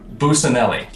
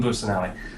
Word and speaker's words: Busanelli: I can never say his last name right. One second, let me make sure. Busanelli, I believe is how you say it. Yeah, Boone Busanelli.